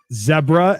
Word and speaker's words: zebra: Zebra, as in Deborah.